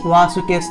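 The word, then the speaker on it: বাসুকেঃ: ভগিনী ওয়াসু কেশ তথা, বয়ের উচ্চারণ, অন্তস্থ বয়ের উচ্চারণ হলো, অন্তস্থ বয়ের উচ্চারণ ও যু স্বরেয়, এই দুটি অক্ষরকে আমরা একত্রে উচ্চারণ করলে হবে ওয়া। তাহলে বয়ের উচ্চারণ হবে ওয়া, তাহলে ওয়া সু, ওয়া সু।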